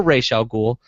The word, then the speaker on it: Ra's al Ghul: Ra's al Ghul or Rachel cool depending on your first media exposure to how that name is pronounced so let's start with